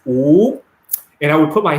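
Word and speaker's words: 五: minutes right in chinese the number five is pronounce ooh and i would put my hand up and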